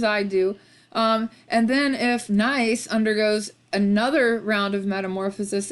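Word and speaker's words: gneiss: also the metamorphic rock nice it's spelled G in E is s but there's always a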